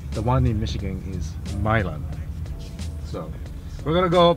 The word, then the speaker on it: Milan: at mil Dragway now uh this is actually pronounced Milan not Milan there's a city called Milan in Italy but the one in Michigan is Milan so we're going to go pay for the